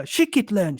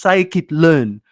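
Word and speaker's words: scikit-learn: the workshop presentations and he kept on referring to uh shikit learn shikit learn and I'm sitting there I'm thinking what is shikit learn it turns out the pronunciation he was trying to pronounce psychit learn right to him it was shikit learn but anyway So, so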